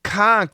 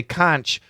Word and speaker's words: conch: So remember I told you yesterday, conch, that was a new pronunciation for me because I always say conch. Okay, I checked the dictionary. Yeah, both pronunciations are fine. Conch and conch.